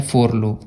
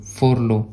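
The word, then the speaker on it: furlough: Next आता है friends, next word आता है फोरलो। फोरलो, अगर आप इसको फोरला पढ़ रहे हो तब भी कोई बात नहीं, लेकिन इसका सही प्रोनाउंसिएशन होता है फोरलो।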